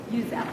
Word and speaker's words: Uzzell: is that the correct pronunciation? Is it Uzzell or Uzzell? Uzzell.